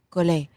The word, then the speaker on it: Collet: Well, Colette would be two T's and an E. Collet.